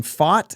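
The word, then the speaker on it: Pfaadt: go up against Brandon fought and that is p-f-a-a-d-t aught that's like saying Mitch Keller pronounces his name Smith okay it's not quite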